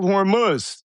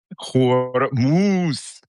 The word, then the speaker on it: Hormuz: Strait of Hormuz, as Wajeeh mentioned, if somebody could get me